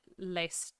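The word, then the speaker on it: Lestat: s a t and I think he pronounces it Le L like I don't think you do the tea at the end oh probably probably don't I feel like I always pronounce it like Le but uh the the T at the end is probably not necessary I think it's de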